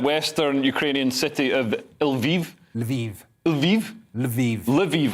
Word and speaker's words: Lviv: Lviv, all right, cool. I was pronouncing it like the shampoo, that's wrong.